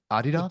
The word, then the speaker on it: Adidas: And then I went on Is that how you say it? Adidas? say Is that that in Germany, yeah. So because it's named Really? after a guy named Adi Dassler.